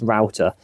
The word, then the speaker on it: router: The way I'm going to cut this out is using something called a router, and it is pronounced router.